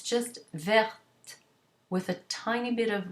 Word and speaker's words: verte: T is not pronounced, you add an E to it to make it feminine, and you get verte. It's not verte or verte or verte, none of those. It's just verte with a tiny bit